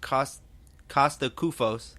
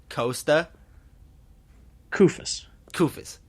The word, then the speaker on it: Kosta Koufos: What do you say to those people that think that for some reason that the signing of Kosta Koufos, did I pronounce that right that time? No? Kosta Koufos.